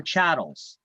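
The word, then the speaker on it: chattel: right and CH chatt it's pronounced chatt or chattles um chattle or chattles is tangible personal property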